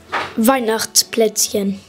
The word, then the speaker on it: Weihnachtsplätzchen: You say Weihnachts with an S instead of an E-N. Weihnachts. Say it all together. Weihnachtsplätzchen.